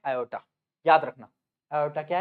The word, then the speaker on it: aorta: तरफ लेके जाता है, इसको हम बोलते हैं आयोटा। क्या बोलते हैं हम इसको? आयोटा, या फिर बहुत सारे लोग इसको ऑर्टा भी बोलते हैं। इसकी स्पेलिंग होती है ये AORTA, ऑर्टा। ये क्या है?